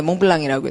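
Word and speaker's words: Montblanc: 몽블랑 예 몽블랑이라고 읽어요. 그 몽 이게 불어는 불어 불어에 비하면 영어는 굉장히 양반이에요. 불어는 발음하기가 더 어려워요. 스펠링 보고 발음하기가 자음을 안 읽고요.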